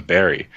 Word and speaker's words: Barre: It's not called Barre. The name of the town is Barry.